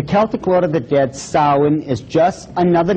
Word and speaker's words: Samhain: This is properly pronounced in the ancient Gaelic as Samhain.